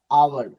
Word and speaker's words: hour: Same ही word है, HOUR भी है, यहाँ पे क्या हुआ, H दब गया, आवर आवर आवर। ये OUR आवर और HOUR आवर दोनों का उच्चारण सेम ही होता है।